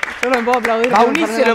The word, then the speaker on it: Baunisse: Ya no, pero sin la E. Y pero está la E. Pero porque tu nombre es Denise, entonces se pronuncia igual que tu nombre.